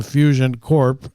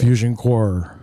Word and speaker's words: Fusion Corp: and many years later Toronto Mike would uh mispronounce it and leave the p out of it. Fusion core.